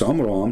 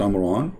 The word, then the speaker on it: Amram: But Imran, even Muhammad, he called the name wrong. It's Amram, not Amran, but idiot, as what you say, is the father of Moses.